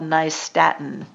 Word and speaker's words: nystatin: that he wants to to get is called nystatin n-y-s-t-a-t-i-n nystatin it's an anti-fungal that kills yeast